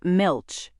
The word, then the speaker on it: milch: It is pronounced milkch and means milk producing or dairy as in milkch cow or milkch goat.